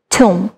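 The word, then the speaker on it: tomb: Next এটা আছে আমরা এটাকে অনেকে টম বলছি অনেকে টুম্প বলছি well so the right pronunciation will be tum okay so next আমরা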